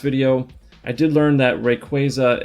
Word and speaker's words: Rayquaza: And before we start, from the last video, I did learn that Rayquaza is based off the words Ray and Quasar, so that will explain how to pronounce it.